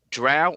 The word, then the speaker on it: drow: know that it says it says drow or dro you can do either groomsh grumpsh so basically